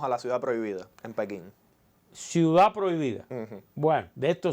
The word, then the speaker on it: Pekín: En español, según la Real Academia, lo más correcto es decir Pekín, aunque decir Beijing también es aceptado.